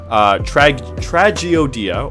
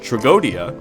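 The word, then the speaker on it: Tragoedia: Moving on to the last card that we have, Tragiodia, or as it is mostly pronounced Tragodia, is going to be in our deck as well.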